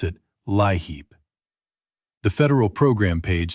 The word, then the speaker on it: LIHEAP: your state, and you may hear a caseworker pronounce it LIHEAP.